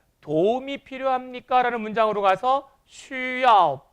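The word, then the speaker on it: 需要: 그래서 여기 나와 있는 XU라는 발음은 수라 하지 않고 쉬라고 발음한다는 점 꼭 기억하시기 바랍니다.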